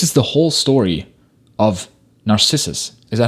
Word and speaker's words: Narcissus: looks maxing this is the whole story of narcissus is that how you say his name narcissus nailed it who just kept staring into the